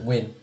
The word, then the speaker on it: Nguyen: That's how you say it in English, right? Win.